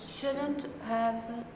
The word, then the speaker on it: shouldn't have: So the H disappears.